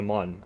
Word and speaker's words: Mun: This is kind of a lunar, but pronounced with a different U. Yeah, well, in Kerbal Space Program, it's the Mun, M-U-N. Compared to Moon.